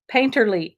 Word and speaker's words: painterly: it can sound pompous painterly utterance of sound that rhymes with faint early i mean i don't